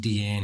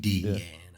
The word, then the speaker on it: Deanne: It's like DE and then capitalized ANN. Yeah. Oh, really? Sweet Deanne, I miss you so. Not Deanne, bro. Not Deanne. You thought it was a fancy pronunciation of Diane?